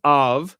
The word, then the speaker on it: av: Okay, for instance, in right, that's pronounced av, but this is pronounced abba.